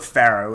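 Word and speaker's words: Farro: had a job at pharaoh which is like a nice like food retail place rhymes with barrow yeah yeah oh and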